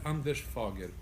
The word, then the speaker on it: Anders Fager: Bonjour, Anders Fager. Bonjour. Did I pronounce it well? Fager, Anders Fager. Okay. It's more Anders like that.